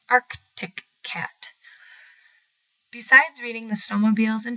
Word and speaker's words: Arctic Cat: yamaha's would race by the word artic cat always got me because it has an extra see in it that seems useless in the word so when I would feel sassy I would pronounce it arctic cat besides reading the snowmobiles